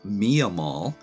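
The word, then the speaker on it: Miah Maull: of strange that the name of the lighthouse is usually pronounced mia mall but it was named for nehemiah mall can't quite figure that out but mia mall lighthouse was auctioned by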